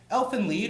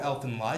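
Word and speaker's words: Elfen Lied: of the more graphic elf and lead or elf and lie depending on your pronunciation is a must-see the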